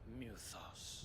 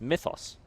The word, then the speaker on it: Mythos: ] are you expect no less from you muthos muthos he said they say it like Mew that is that's is not how a y is pronounced I don't believe we've been introduced it's Mythos you were in my family's